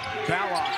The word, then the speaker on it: Ballock: Yes, we said Ballock. We're going to get into the pronunciation of the sharpshooter for Creighton and his name in a moment.